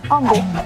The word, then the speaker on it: Humble: of people refer to this area all as humble and to make sure we're all on the same page it's pronounced humble with a silent age so what's the cost